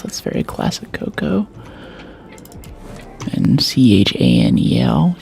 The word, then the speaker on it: Chanel: That's very classic Coco and C H A N E L channel, but it's pronounced Chanel.